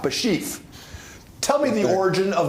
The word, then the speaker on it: Bashieff: to start this out your first name is spelled b a s sh i e FF bashie tell me the origin